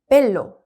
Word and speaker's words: bello: 그래서 지금 이 엘레 앞에 이렇게 모음이 온 경우에는 앞에 모음이 연음이 돼요. 그래서 빼로라고 읽는 게 아니라 벨로, 벨로로 읽어요.